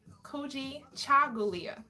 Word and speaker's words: Kujichagulia: I'm like, I can spell it. But yeah, tonight's principle is Kujichagulia. Kujichagulia.